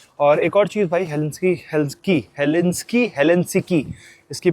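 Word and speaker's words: Helsinki: और एक और चीज़ भाई, हेलेंसिकी, इसकी प्रोनाउंसिएशन जो है हेलेंसिकी है, ठीक है।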